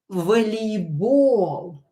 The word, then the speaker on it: волейбол: Волейбол. Волейбол. Volleyball is volleyball. And here we have O, which we are going to pronounce it A.